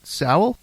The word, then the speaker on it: Sowell: Abigail and John Mark is it Sal that I say it right right now so and the Sal family band and you